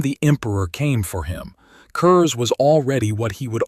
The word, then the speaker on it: Curze: Konrad Curze. Curze rhymes with curse, and that is not an accident, either.